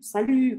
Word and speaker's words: salut: e então bom sal eu não vou falar esse t no final não é salut tá é sal salut com biquinho salut salut esse salut